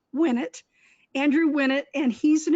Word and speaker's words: Winnett: So my guest today is Andrew Winnett to Winnett. That's how you know how to pronounce his name, Winnett.